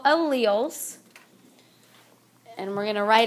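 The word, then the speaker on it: allele: you say that word Al okay I know a lot of times when you look at it you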